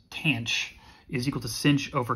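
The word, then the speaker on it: tanh: the hyperbolic tangent function which i'm going to pronounce tanch is equal to cinch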